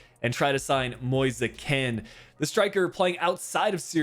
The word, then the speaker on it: Moise Kean: There are a few different pronunciations you can use for this player. I'm going to go the Italian route and try to sign Moise Kean.